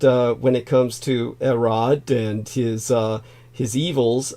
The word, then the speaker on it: Herod: name Americans would say Herod um as areses can attest the Greek language the H is silent um but uh when it comes to erod and his uh his